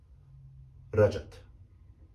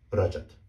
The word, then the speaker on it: Rajat: very short A's, but the correct way to pronounce that is similar to keeping the A sound and the J sound intact. Is correctly pronounced Rajat. I'll say it again, Rajat.